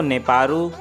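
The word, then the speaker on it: ネパール: पाकिस्तान को बोलते हैं गाइज़ पाकिस्तान, नेपाल को नेपारू, और रशिया को रोशिया, USA को अमेरिका, फिलीपींस को फिलीपीन।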